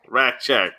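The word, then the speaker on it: Rasczak: Raskzak? Rackcheck, yeah.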